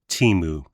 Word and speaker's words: Temu: So, my new thing is faking the return, the fake return, which I learned from Temu, or some pronounce it Timu.